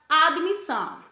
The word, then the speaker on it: admissão: palavras como por exemplo a palavra admissão o correto é admissão mas costumamos falar admissão com o som vocálico bee entre o d e o m está errado outro átomo tu nós